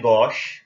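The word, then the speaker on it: gauche: तो जो 1 और 5 हैं इन्हें कहते हैं गॉश, गॉश वर्ड है ये। फ्रेंच वर्ड है, लेफ्ट के लिए यूज होता है।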